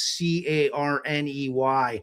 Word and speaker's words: Kearney: and change the name so it's c a r n e y, which is how you'd pronounce Carney.